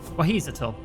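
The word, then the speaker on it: Wahisietel: Is Is his name in the list? It is. Wahissitoot. Wahissitoot. Wahissitoot. Right. Okay. Now I'm doing it right.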